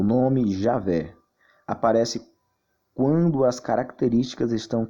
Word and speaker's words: Javé: Entretanto, aos poucos esse nome vem sendo substituído pela forma Iavé ou Javé, que é a pronúncia mais próxima do original.